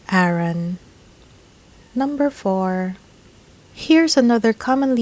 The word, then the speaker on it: Aaron: would say Aeron but native English speakers would pronounce this Aaron Aaron remember the proper English vowel sounds be sure